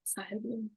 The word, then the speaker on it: Sahil Bloom: So it's Sahil Bloom. Sahil Bloom.